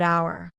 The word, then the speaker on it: hour: with a vowel sound the letter H is silent in the word hour a university an uncle